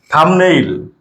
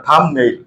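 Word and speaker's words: thumbnail: কোন ভাওয়েল নাই এজন্য এখানে কি হবে বির উচ্চারণটা হবে না থাম থাম মানে বৃদ্ধাঙ্গুলি থাম্বনেইল দেখো বি এর পরে এখানে এন আছে ভাওয়েল নাই সো এখানে বির উচ্চারণ হবে না থাম্বনেইল থাম্বনেইল আমরা ভিডিওতে থাম্বনেইল ইউজ করি ওকে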